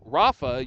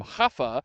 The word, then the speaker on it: Rafa: You you pronounce it like an H. You know, we call him Rafa, you call him Hafa.